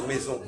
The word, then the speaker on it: mais: Alors que j'ai dit même mais, M-A-I-S, pourquoi je ne prononce pas le S de mais?